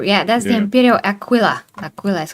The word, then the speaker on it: Aquila: Aquila is how you say it.